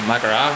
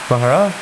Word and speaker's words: Maghera: Mahara? Mahara? What did I say? Maghera. Mahara? We say it, so you pronounce it GH, whereas we say GH. So we go, we say it throatly. Alright, okay.